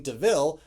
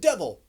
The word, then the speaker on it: de Vil: her adopting the name deville which horse makes a big deal saying oh it looks like devil but it's not pronounced devil and she still has